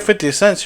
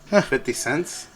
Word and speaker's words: 50 Cent: make but if you're 50 Cent's you're like 50 cents pretty Sam really that's what you say 50 cents okay well I like to say it like that I know it's 50 cent okay